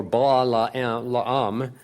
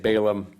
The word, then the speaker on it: Balaam: this so-called prophet named Balaam or ba la la um it might be said when you get a double A's we did we say it Balaam they would be pronounced a little differently but we use Balaam Balaam was the false